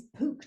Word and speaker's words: Pook: He's Pook to rhyme with spook, Hob to rhyme with rob, Robin to rhyme with roblin.